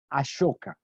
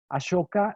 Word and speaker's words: Ashoka: Ashoka se escribe en realidad Ashoka, A-S-O-K-A, Ashoka, como suena, digamos Ashoka, se puede escribir con S-H y normalmente se pronuncia Ashoka.